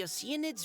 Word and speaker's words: Oceanids: Yeah, Oceanids, pronounced as ocean, sounds so much better than the ones the game used.